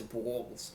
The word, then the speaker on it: Bawls: I mean, there isn't there's no other way to pronounce it. You could say B ws, I guess, but that's not really an adequate means of pronunciation. So, I figure it's it's balls, but not really like balls like testicles, but you know, it's balls.